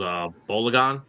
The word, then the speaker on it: Balogun: And the striker who had 2 goals, Bologan, is that how you Yeah. pronounce his name? Florian Balogun. Balogun. Yes.